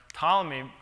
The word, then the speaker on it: Ptolemy: had called the experiment Ptolemy for Princeton Tritium Observatory, and now I was in this horrible dilemma that I have to move it. And well, somebody, my colleagues say, the P is silent.